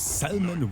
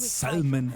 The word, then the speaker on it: salmon: Robo saying my dad, who is an editor for several outdoor magazines, says salmon with an L as well. Little fun fact, Robo, Tigris back then always pronounced it salmon as well, with the L bite, actually.